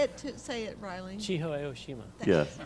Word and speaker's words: Chiho Aoshima: I can't pronounce that. Chiho. I'm sorry. Say it, Riley. Chiho Aoshima.